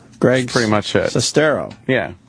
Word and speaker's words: Sestero: Sestero. Is that how you say it? What? Sestero? Sestero. Sestero. Sestero. You almost yeah, said it right with the accents in the wrong spots. Greg. Pretty much it. Sestero.